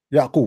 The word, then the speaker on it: Yaqub: Yaqub. That's how you say it in English? Yeah. It's Yaqub in Arabic.